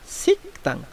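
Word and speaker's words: 식당: লক্ষ্য করুন এখানে বাসিম গিয়কের পর যেহেতু দিয়ত আসছে এই কারণে মূলত দিয়তটা সাং দিয়তের উচ্চারণ হবে, হয়ে যাচ্ছে আপনার সিকতাং।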